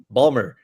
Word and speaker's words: Baltimore: But you're not saying it right. Balmer. Yeah, Baltimore.